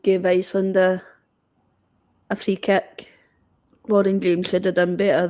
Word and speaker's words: Lauren James: He just called her Laura James. Huh? Her name's Lauren. Seth.